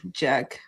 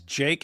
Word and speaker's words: Jake: His name is Jake, and you're calling him Jack, and he's saying it's because he's a.